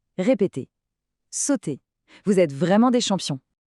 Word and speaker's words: sauter: Notez bien que le e r à la fin des verbes comme celui-ci est mué. On dit simplement sauter. Répéter sauter.